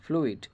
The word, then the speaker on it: fluid: যদি ফ্লুইড বলি আমরা তাহলে দেখুন FLUID ফ্লুইড, এই ফ্লুইডের এখানেও কিন্তু ইউর উচ্চারণ দীর্ঘস্বর হচ্ছে, কারণ ইউর পূর্বে এল রয়েছে, এল একটা কনসোনান্ট এবং ইউটা হচ্ছে ভাওয়েল।